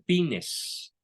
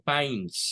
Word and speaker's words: Pines: siglos el profesor slomo Pines slomo Pains se pronuncia de la Universidad de